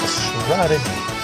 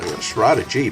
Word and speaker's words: Shraddhamrita: It is Shraddha plus, it's a compound word in Sanskrit, Shraddha plus Amrita.